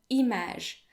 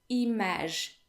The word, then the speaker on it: image: we have i come image the g in image is pronounced as if it were j image not imag as you